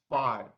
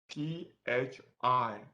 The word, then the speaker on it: phi: Okay, so these three symbols pronounced as phi, P-H-I. Where are you? P-H-I, phi.